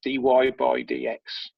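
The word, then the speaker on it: dy/dx: is written like this: dy over dx, and that's pronounced dy by dx.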